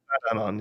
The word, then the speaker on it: Badanon: Is it Badanon? Badanon, yeah. Badanon Villain Support Center. I don't think it's ever said, honestly, but it's like it's anon as in anonymous, right?